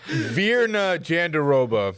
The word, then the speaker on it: Virna Jandiroba: Virna Jandiroba.